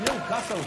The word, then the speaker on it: Newcastle: But it's pronounced Newcastle.